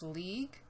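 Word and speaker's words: Liège: from luxmore up into I think it's pronounced League yes let's do that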